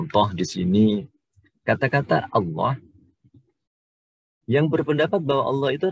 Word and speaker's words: Allah: kadang-kadang di antara kita dalam pengucapannya lebih suka menggunakan huruf wawu atau w, sehingga pengucapannya Allah, bukan lam, Allah. Padahal kalau melihat dari sisi asal-usulnya, dia sebenarnya harus kita ucapkan dengan menggunakan Allah.